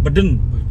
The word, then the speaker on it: Budan: Saya tadi kita tulisannya Budan, bacanya dengan logat Madura Beden.